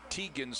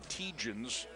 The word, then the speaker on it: Tegens: It's actually Tegens, and he is a freshman from Stamford, Vermont. He is the player that we talked about earlier when he came in the first half, who went to high school at Drury High School in Massachusetts, I do believe, but it's Tegens, which is the correct pronunciation, not Tegans.